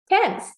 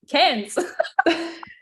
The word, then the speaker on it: Cairns: So if Scottish people were to say the word Cairns, they say it like that. But you guys say, how do you say it? Cairns. Cairns. It's like the R doesn't exist.